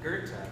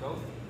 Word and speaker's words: Goethe: which I didn't know, there's a street called Goethe, but no one will know what you're talking about unless you call it Goethe.